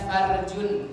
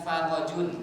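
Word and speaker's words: فرج: itu artinya kemaluan perempuan dibacanya fardun bukan farodun hati-hati salah baca Ya bukan kemaluan tapi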